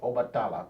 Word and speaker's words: Obatala: So that's how I like to say it, Obatala, because the word Oba is a word, and then Tala is also words in the Yoruba language. But a lot of times, if you're an English speaker, you would just say Obatala because you're an English speaker. You don't know anything else.